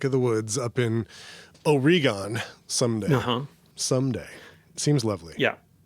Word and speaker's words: Oregon: No, Oregon. Oregon. Yeah, that's how the locals say it.